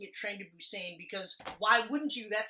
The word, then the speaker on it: Busan: But I am pronouncing it Train to Busan because why wouldn't you?